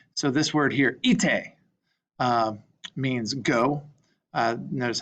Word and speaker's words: ite: So this word here, ite, means go. Notice how that I, it's not ite or ite. You'll notice that both syllables are pronounced.